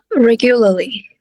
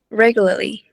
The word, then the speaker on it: regularly: Regularly, okay, the first syllable ha. Giống cái từ nổi tiếng ấy. Tương tự ha. Stress vào đâu? Popular. Popular, okay? So it should be the pop ha.